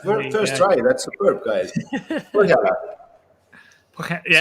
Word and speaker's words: Põhjala: Põhjala. Põhjala. Põhjala. Very good. There we go. That first try. That's superb, guys. Põhjala. Yeah, so it's pronounced like it's kind of unique letter, but yeah, I think everybody is capable actually saying it.